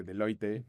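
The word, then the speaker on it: Deloitte: o como él me ha dicho que lo pronunci de Loite España, ¿no?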